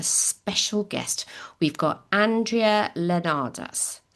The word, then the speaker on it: Leonarz: We've got Andrea Leonardas. Pronounce it for me again.